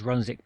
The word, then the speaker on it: Runswick: So down there was Runswick Bay and the village of the same name, Runswick. I'm assuming that, like Keswick, the W is silent.